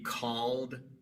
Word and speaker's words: called: Y entonces al agregar e d en el tiempo pasado, la E queda muda y se pronuncia solamente la D.